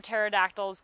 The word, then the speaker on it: pterodactyls: to end with this why can't you hear pterodactyls go to the bathroom because the p is silent so i know aaron's